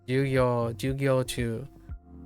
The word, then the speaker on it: 授業中: Jugyo chu. Also, you're gonna have like the idea of pitch accent, the way I pronounced it, like the speech. How I'm saying Jugyo chu instead of Jugyo chu.